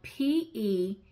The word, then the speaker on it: petrichor: The second one is a noun, and it is spelled P-E-T-R-I-C-H-O-R, and it is pronounced petrichor.